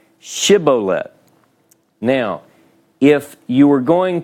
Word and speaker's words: Shibboleth: Now, in this particular story in Judges chapter 12, verse 6, you have with the sheen on the front, you're saying this is an SH sound, Shibboleth.